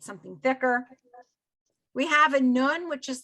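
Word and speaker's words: נון: now there's it's it's called a nun n-u-n right or n-o-o-n however you want to pronounce it um and there is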